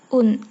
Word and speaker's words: un: Semisal 1 bulan menjadi un mois bukan ang mois. Seperti itu ya. Jadi apabila angka 1 diikuti oleh kata lain di belakangnya, maka membacanya bukan ang lagi tetapi un.